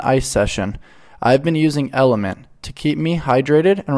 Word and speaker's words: LMNT: have all this magic lmnt pronounced element is a tasty electrolyte